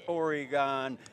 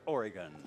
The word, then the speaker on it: Oregon: It's not Oregon, it's Oregon. Okay? Boy, they toasted me about that the last time I did commentary here. What do you mean, Oregon?